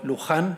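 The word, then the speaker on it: Lujan: know michelle you know luhan i'm gonna pronounce that in a spanish way you know uh grisham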